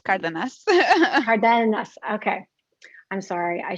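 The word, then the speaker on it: Cárdenas: So like the English way to say it would be Cardenas, but like the way that I pronounce it is Cardenas.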